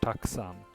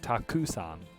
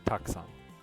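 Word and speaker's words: たくさん: with this one here this is actually just pronounced taksang there's a very very short short oo to it it's not takuson but it's toxon okay as long as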